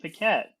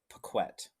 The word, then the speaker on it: Pequette: friend, and listener, Nate Pee-kwette. Hey guys, good to see you. Glad to be here. Yeah. Except, Jamie, my last name is pronounced Pequette.